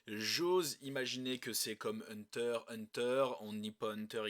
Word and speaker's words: Hunter x Hunter: cas de mon côté je suis de la team qui ne dit pas Hunter x Hunter mais Hunter Hunter donc je fais la même chose pour murder murder je ne prononce pas le X donc je sais que